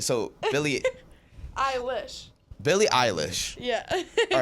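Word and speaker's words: Billie Eilish: eyelash okay I put four how do you pronounce it it's not Billy eyelash no it's Billy ey who told Billy have you never once heard in your life Billy eyelish I thought it was Billy eyelash no it's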